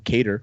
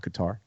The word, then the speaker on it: Qatar: more from like from cater first of all not guitar you got to say it properly i don't know because